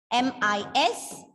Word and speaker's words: mishap: okay 12th word is m-i-s-h-a-p and this is a noun with two syllables stress on the first syllable and it is read as mishap mishap okay the 13th word